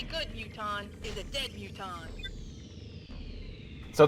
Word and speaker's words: mutons: The only good muton is a dead muton. So they're pronounced mutons.